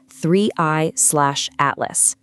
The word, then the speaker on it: 3I/ATLAS: object, the interstellar comet threeey/atlas. And just so we're all on the same page, you pronounce that threeey atlas.